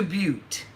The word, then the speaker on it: Butte: her finger through the mat and she sees bu T te so she goes up to the counter and